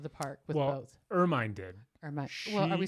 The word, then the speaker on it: Hermine: it's spelled Hermine. And I want to say Hermione. exactly. But they don't say that. No, they They don't. take the H off and they take Yeah. the E off, and they're like Ermine.